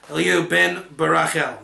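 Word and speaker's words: Elihu ben Barachel: Now, you're going to probably say, you pronounced it wrong. What's funny, let's get the nekudot to satisfy the ears of people that had a crusade, the mispronunciation of the nekudot. Eliyu ben Barachel. There, I said it right.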